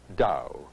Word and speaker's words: Tao: in Western spelling it's t AO though it's pronounced da I've seen it translated as the order of